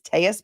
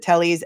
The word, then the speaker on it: Telles: his name which is tus because of the Double L but he pronounces it Tellies everyone else pronounces it Tellies so just don't get confused when he says teus that's who he's talking